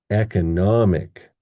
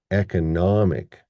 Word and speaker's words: economic: We get economy, economy. But in this one, we get economic, economic. Okay, those are different sounding words, aren't they?